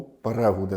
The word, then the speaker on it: Перегуди: Що в вас от село правильно з з наголосом на букву У. Перегуди, да, називаються перегуди.